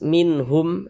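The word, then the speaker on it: مِنْهُمْ: Nah, maka huruf nunnya ini kita baca jelas, minhum, minhum, baca jelas.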